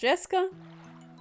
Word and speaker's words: Jessica: Anyway, Jessica is pronounced Jessica.